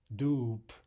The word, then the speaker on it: дуб: Dub. There the final B is devoiced to a P, right?